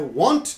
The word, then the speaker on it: want: very different sentences but many students pronounce these two words the same don't pronounce them the same way be careful I won't